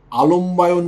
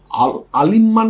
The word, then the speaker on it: আলম্বায়ন: না কিন্তু মৌদ গোল্য অনেকে এগুলো ভুলভাল উচ্চারণ করেন ভুলভাল লেখেন আলিমমান গোত্র না কিন্তু আলমবায়ন গোত্র আল ময় বয় জফল আকার অন্তস্থ মধ্য আলমবায়ন গোত্র বা কাশ্যপ গোত্র